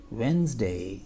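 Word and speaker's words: Wednesday: and this इ वेडे वेनसडे एंड ट्स वेनसडे वी not pronounce D here वेनसडे वेनसडे एंड इन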